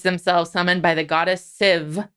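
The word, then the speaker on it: Sif: summoned by the goddess civ apparently it's with a v in pronunciation who knew yeah to her and thor's palace i'm going to say sith a lot because that's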